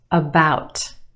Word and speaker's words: about: about about. Okay, we have two syllables in that word. The second syllable is emphasized or stressed. The sound is stretched about. The first syllable is yourwah. Uh uh about about.